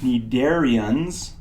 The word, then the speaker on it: cnidarian: this is pronounced it need Aryans and the initial C is silent that phylum has two